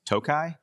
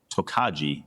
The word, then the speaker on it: Tokaji: Yeah, well, the correct pronunciation is Tokai. It's a Hungarian word. However, I had been pronouncing it Tokaji because it's spelled Tokaji. I thought it was a Japanese style barrel. Okay. And I was soundly corrected.